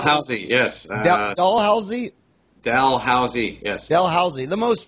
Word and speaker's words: Dalhousie: most famous dental school university in the world dollhouse is it pronounced dollhouse or doll whole see how do you pronounce healthy yes dalhousie Dalhousie yes dalhousie the most famous dental school